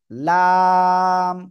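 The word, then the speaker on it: لام: পারে এপাশ হতে পারে জিহ্বার আগার কিনারা উপরের মাড়ির দাঁতের গোড়ার সাথে লাগিয়ে লাম উচ্চারিত হবে লাম ঠিক আছে সবাই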